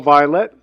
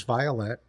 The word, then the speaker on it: Violette: Today's guest is Paul Violette.